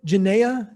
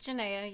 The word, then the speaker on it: Janaea: Am I saying this name right? Genea? Genea? It's Janaea. You said it right.